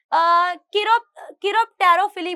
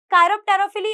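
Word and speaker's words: chiropterophily: रहा है इन्हें हम किरोप्टेरोफिली बोलते हैं। क्या बोलते हैं? कायरोप्टेरोफिली या फिर किरोप्टेरोफिली, जो भी आप बोलना चाहते हो, ठीक है, pronunciation is depend on यू।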